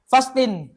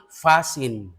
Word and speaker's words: fasting: Fasting. Hindi yan fasting, hindi. Dapat abasa dyan, silent T. Silent T. Magiging fasin. Fasin? Oh, fasin.